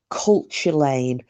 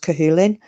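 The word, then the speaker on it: Cú Chulainn: seen the name it's spelled it looks like culture Lan but is it's actually pronounced cahin but it looks like culture Lan and he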